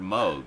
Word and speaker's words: Moog: I actually heard something by Robert Moog, the guy who invented it, mention Yeah. his own name. It's like, oh, it's Moog.